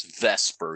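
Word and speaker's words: VSEPR: r otherwise known as you say it as Vesper even though it's VF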